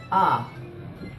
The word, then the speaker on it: Å: The pronunciation of this letter is, for example, the English word father. Ah.